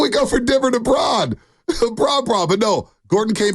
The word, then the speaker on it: Braun: Is it Brown? It's Brown, but it's spelled B-R-A-U-N.